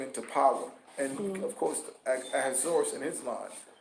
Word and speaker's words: Ahasuerus: And of course, Ahasuerus in his line. That's how you pronounce the name, King Ahasuerus, or Xerxes. It's King Ahasuerus or Xerxes.